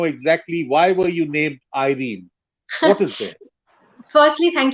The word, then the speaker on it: Irene: So many people here call me Irena. So they Irene. call my name Irena, but I call myself Irene.